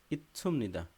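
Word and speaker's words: 있습니다: তাগো হাদা ঠিক আছে ইচ্ছুমনিদা তাহলে ইতসুমনিদা এটা উচ্চারণ হবে কি ইচ্ছুমনিদা ইত ইতসুমনিদা বোঝা গেছে ইতসুমনিদা আমরা এটা উচ্চারণ করি ইতসুমনিদা মূলত উচ্চারণ ইতসুমনিদা ইতসুমনিদা এই শিউরটা হয়ে যাবে স এর মত উচ্চারণ বোঝা গেছে সুমনিদা আর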